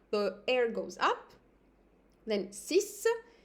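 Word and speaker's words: six: air goes up then Sis Sis I'm just pronouncing the ex as an S sis set seven no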